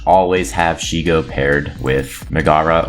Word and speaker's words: Megara: have Shego paired with Megara, or Megara, as I found out is the actual pronunciation.